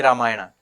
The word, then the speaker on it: Ramayana: a Vel in English if I say the word in telu I would have said ramayanam or ramayanam since I am using Sanskrit pronunciation I can say ramayana or ramayanam now you might ask